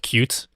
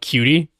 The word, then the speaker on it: Qt: I've never heard cutes UI framework being called cutes. I actually think it's literally pronounced cute.